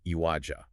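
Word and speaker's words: عِوَجًا: It is written with a kasra, a vowel mark placed below the letter, making it pronounced iwaja.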